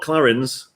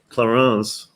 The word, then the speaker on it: Clarins: rooms as well the toiletries are all not clarins clarins apparently i've been pronouncing it wrong i've been pronouncing it wrong